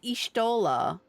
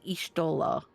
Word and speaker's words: Y'shtola: The clan's letters are not pronounced the way you pronounce a letter. That's not what I'm talking about, Zay. Everyone that I know in the online spaces, I've always heard them say, like, Ishtola.